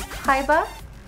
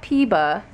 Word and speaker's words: PIBA: to start collecting and the way you pronounce it is PBA PBA not PE not peba PBA PBA P what does